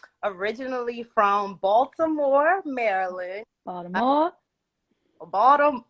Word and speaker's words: Baltimore: Uh, Baltimore, You gotta say like Baltimore. Baltimore. So if you're not from Baltimore, you say it like Baltimore.